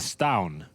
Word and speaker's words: stavn: Oh, Stavin. Apparently it's pronounced like it's a silent B. It's like a stown, you know? Stown. It's almost like the U. Yeah. Like Chvrches, the band.